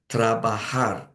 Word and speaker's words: trabajar: Trabajar, and the J is pronounced like an H.